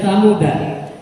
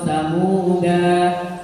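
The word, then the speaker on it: ثمودا: Min nabain, kemudian samuda. Nah, samuda ini sama dengan salasila tadi, bacanya persis sama. Ketika stop bisa dibaca samud atau samuda. Kalau terus danya dibaca pendek. Oh, itu paham sudah.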